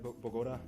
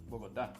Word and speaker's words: Bogotá: Diego, did I pronounce that right? Bogota? Nope. Bogotá.